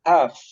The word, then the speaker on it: half: what L is silent the L is silent before the final letter half half Bravo final example